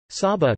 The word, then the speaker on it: Saba: Saba, Dutch pronunciation, Sa-ba, is a Caribbean island which is the smallest special municipality officially public body of the Netherlands.